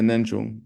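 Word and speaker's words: ངེས་འབྱུང: Yeah, Nenjung.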